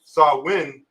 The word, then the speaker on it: Samhain: keep going and monotone samhain a gallup word pronounced saw win is usually celebrated from